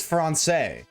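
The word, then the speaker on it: français: like like French and French is fron and when they speak of when French people speak of French they say fron they don't say French because that's how it is in English.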